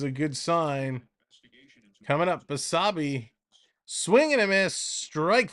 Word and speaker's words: Basabe: Basabe. That's how you pronounce it. Basabe.